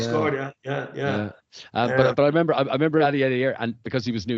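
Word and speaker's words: Aliadière: Well, for the younger viewers, I'll pronounce his name for you. Jeremy Aliadier, mate.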